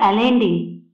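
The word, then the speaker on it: Allende: These are some extract from the last speech of सल्वेडर एलेंडी pronounce एलेंडे अयांदे.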